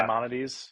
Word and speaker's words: Maimonides: Yeah, Maimonides.